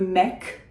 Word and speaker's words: mec: If you have a word that ends in a C, For instance, le mec, guy, M-E-C, you will pronounce that final C.